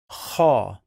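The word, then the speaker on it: خ: Now we have kha. Kha, kha, kha, kha, kha, kha, kha, kha, kha is the same sound when you snore. Okay, it's not exactly, okay, but it's very close to it.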